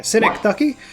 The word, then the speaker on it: synecdoche: I didn't know how to pronounce it. So there you go. Synecdoche.